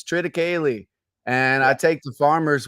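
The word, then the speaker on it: triticale: right no no fine the farmer gets on me when I say TR kale the first two years and said Austin it's TR kayy and I take the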